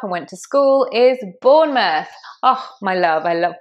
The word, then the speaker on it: Bournemouth: Number seven, the place where I grew up and went to school is Bournemouth.